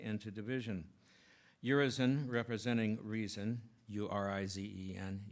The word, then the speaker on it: Urizen: Urizen, representing reason, U-R-I-Z-E-N, your reason, or I've always heard it pronounced as Urizen.